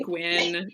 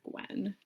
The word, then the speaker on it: Gwyn: bet SE Gwen Gwen Gwyn I always say Gwyn that's how it's pronounced in the Audi books and it's G it's Gwyn so I don't think it's Gwen but I would say Gwyn or I'm like